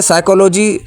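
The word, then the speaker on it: psychology: की स्पेलिंग पूछ ली अच्छा साइकोलॉजी sounds like starts with S जबकि ऐसा नहीं है साइकोलॉजी की जो स्पेलिंग है वो है पी पी एस वाय सी एच ओ एल ओ जी वाय ठीक है तो इस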